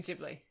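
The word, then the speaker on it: Ghibli: speaking of studio studio gibli or jibli is it gibli or jibli Studio jibli jibli that's how we say it like a giblet when we talked about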